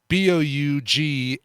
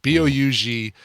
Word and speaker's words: Bougaieff: It's Bougaieff, and hey, that's getting to use all the vowels in your last name. Good job, man. Bougaieff.